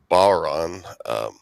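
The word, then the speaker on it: bodhrán: And a name for that in Irish would be bowron, but it's spelled like bodron, but I think it's pronounced bowron.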